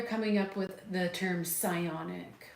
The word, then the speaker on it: psionic: So, psionic almost puts a more sciencey ring to it. It rhymes with ions.